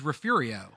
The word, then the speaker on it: Refugio: this one here uh how would you pronounce this one refuego I'm just gonna lean into Spanish pronunciation even though it's probably wrong and say refujio it's Refugio right Refugio no no no this is this is refurio oh